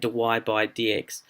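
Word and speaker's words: dy/dx: So we can use dy by dx, and that's how you say it, dy by dx.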